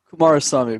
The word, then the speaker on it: Kumarasamy: see a name without with more than two syllables i i instantly tense up is it uh kumasami kumar sami but close enough ah kumarasamy i just i wrote it down and i